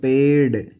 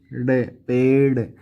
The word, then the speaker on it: पेड़: है, और इसको पढ़ो पेड़, पेड़, ठीक है। ये उच्चारण की बात है, पेड़, यानी कि अड़े की आवाज आ रही है।